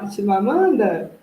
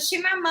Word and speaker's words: Chimamanda: Chimamanda? Isso, Chimamanda.